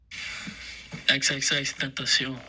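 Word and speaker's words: XXXTentacion: It's Changes by, and I can't say the name, so I gotta play this video of, it's Changes by XXX Tentacion. Tentacion.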